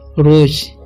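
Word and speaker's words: rose: ठीक है, एनेमी नहीं पढ़ना, एनिमी पढ़ना है रोज, इसे रोसे नहीं पढ़ना, इसे पढ़ते हैं हम लोग रोज।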